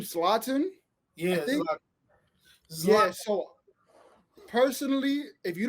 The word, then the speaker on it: Zlatan: So when it comes to this guy, how do you pronounce his name? Zlatan? Yeah, Zlatan.